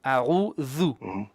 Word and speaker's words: أعوذ: This, that, thus, thu. أعوذ.